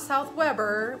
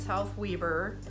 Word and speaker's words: South Weber: So yep, it's not South Weber, we say it's South Weber.